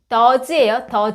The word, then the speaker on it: does: 얘도 주의하실 게 발음이 does예요. does. o로 끝난 애들 es 붙일 때는 좀 발음이 바뀌어요.